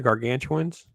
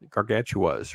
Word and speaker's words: Gargantuas: wrong was it called War of The Gargantuans gargantuas right I think I'm proba saying it wrong the gargantuas make sure I speak there's no n in it um I've never seen